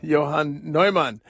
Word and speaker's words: Johann Neumann: Well, we call him John Newman, but I say it right, Johann Neumann.